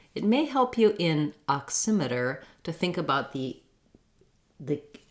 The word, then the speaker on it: oximeter: next two unstressed syllables this e even though it looks like the word meter uh we don't say an e in this syllable in meter the e says e because it's stressed in oximeter emitter it has um an unstressed schwa sound so it sounds like uh oximeter then for american english